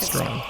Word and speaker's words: Strahan: Maybe it's Strawn. I never quite got how to pronounce it. It is that. Strawn. Do you want to do this skit again?